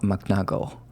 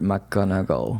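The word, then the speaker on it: McGonagall: start this episode I have practiced is her pronunciation Professor M magnago okay it's a difficult name mcgonagle mcgonagle mcgonagle maybe I I made a mistake of it's difficult yeah mogle yeah it's Professor mcgonagle yeah perfect there you go mle so the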